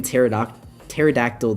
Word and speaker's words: pterodactyl: I used to pronounce the P in pterodactyl, the T in tsunami, and the L in salmon.